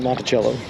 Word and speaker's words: Monticello: i thought uh abc they're arguing that here in indiana and illinois they pronounce it monticello instead of monticello the way it's supposed to be pronounced uh but bick and i have taken a firm stance that we refuse and that it is in fact monticello we need to